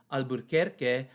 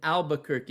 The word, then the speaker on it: Albuquerque: around the 1860s that we lose our r in albuquerque it used to be albuquerque and we still say it like that in spanish my parents i always